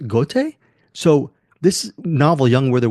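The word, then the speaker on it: Goethe: the a novel by I pronounce it goth or but it's actually I think pronounced goate so this novel young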